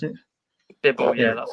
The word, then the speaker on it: Bibble: Right, so we're going to be reviewing the Wild Beer Company Bibble, or I think that's how you pronounce it. Bibble, yeah, that's how you pronounce it.